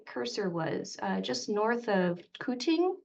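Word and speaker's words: Quthing: So I lived right about where my cursor was, just north of Kuting, it's pronounced.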